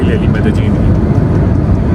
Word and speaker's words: Medellín: You'll think if this (pronunciations) so in Colombian Spanish they pronounce 'y' as 'j'. It's yo in Mexico but here they'll say jo. So it's pronounced as Medellín as per the Spanish here.